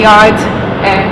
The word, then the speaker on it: Yarde: quiff thing on it but it's Anthony yard silent E who's your coach and